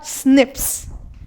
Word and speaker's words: SNP: single nucleotide polymorphism or snips the better way is to pronounce as Snips correct so these are